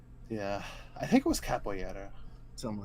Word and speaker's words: capoeira: I think it was capoeira. Something like that. I'm sure. Capoeira. Huh? You Capoeira. pronounce it capoeira. Oh, really? Yeah, the R is like one of those Oh. like RY sounds.